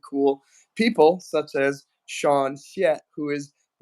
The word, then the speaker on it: Hsieh: Hsieh? It's pronounced Hsieh. Like in Mandarin, when you say Hsieh, it's the same character.